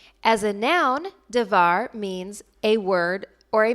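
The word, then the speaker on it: דבר: words for this week the first two words are pronounced exactly the same davar and davar the first one however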